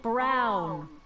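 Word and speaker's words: Brown: to a tee that's Emmet brow rhymes with clown which I'm beginning to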